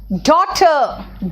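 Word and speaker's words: daughter: देखो जो समझाना चाहूंगी देखिए एच साइलेंट है एच साइलेंट है कहां कहा साइलेंट है जरा देखो डॉटर डॉटर बोला मैंने ए साइलेंट है डॉटर जी एच यहां पे कोई ज्यादा जदा जरूरी नहीं था जो सेकंड वर्ड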